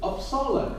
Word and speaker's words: Uppsala: Uppsala in university.